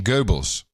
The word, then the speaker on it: Goebbels: get a real accurate print that's the accurate pronunciation Goebbels Goebbels Goebbels yes yes nobody knows were you